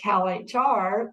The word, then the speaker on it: CalHR: So for CalHR, we just hit the custom pronunciation and put CAL space H space R. And that way it will say Cal HR, the way that we want it to be said.